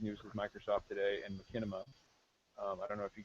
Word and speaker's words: machinima: It's Machinima. Is it Machinima? Okay. It's a Yiddish word.